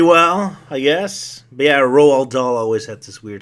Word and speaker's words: Roald: But yeah, Roald Dahl always had this weird sense of humor. Man, I hate that guy's name. I always want to say Ronald Dahl, but it's like Roald.